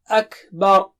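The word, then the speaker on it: أكبر: Akbar. Akbar. Every day we say Allahu Akbar, and make sure you say it right. Don't say Akbar. Akbar. Ba is here and ra is there.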